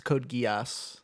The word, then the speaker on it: Code Geass: I watched Code Geass. I believe that's how it's pronounced. Right? No. Are you familiar with Code Geass? It's Geass. It's Code Geass.